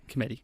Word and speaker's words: Cometti: Cometti.